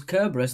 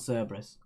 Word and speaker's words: Cerberus: I thought it was Kerberos, and then people told me it was Cerberus.